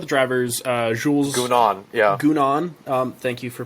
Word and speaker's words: Gounon: Gounon. Thank you for pronouncing that first because I would have said it wrong.